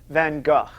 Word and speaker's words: Van Gogh: Starry Night was painted by Vincent van Gogh. Often pronounced Van Gogh as if there were no GH, but more correctly, right?